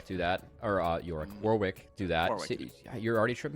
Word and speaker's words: Warwick: what my sidekick is it rhymes with York oh God it's Warwick of course War yeah